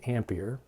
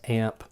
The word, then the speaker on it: ampere: renamed something else we call it an ampere and you just pronounce it often times as amp and it's symbolized as